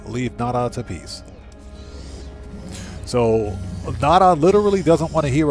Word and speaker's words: Nada: welcome aboard our home try to tell nata about the atlas excuse me NADA if you mispronounce his name he gets upset if you have something